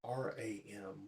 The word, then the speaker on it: Ram: The mantra is R-A-M, Ram.